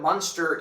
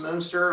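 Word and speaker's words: Munster: Monster Indiana or Moonster Indiana. It's probably probably pronounced Moonster obviously for the the Moonster Cheese.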